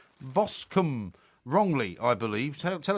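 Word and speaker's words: Boscombe: where have you been it's bosum bosum as as I suggested it's spelled b o s c o m b e it's bosum it's spelled the same as alron therefore it's BOS but Mr Perry you've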